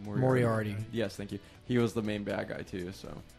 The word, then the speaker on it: Moriarty: Moriarty.